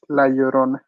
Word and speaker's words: La Llorona: you a spanish lesson whenever you see a double l together you have to pronounce it like a y it's la llorona oh really huh as